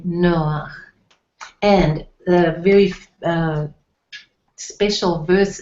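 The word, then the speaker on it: נֹחַ: Noah, but it's pronounced Noach. You've got the ch sound in the name in Hebrew.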